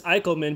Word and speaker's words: Eickleman: uh eichelman in german it's eichelman but i think for the sake of american english it's eckelman we'll go with eckelman for now um sorry if i